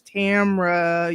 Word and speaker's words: Tamara: you know i'm saying people don't be saying my name right and i need them to hear it the right way is tamra you feel me and